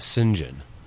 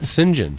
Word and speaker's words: St John: a oh St John in in Britain you pronounce that singen do you guys know that well yeah but that's not no that's not no yeah singen not me yeah no yeah yeah and you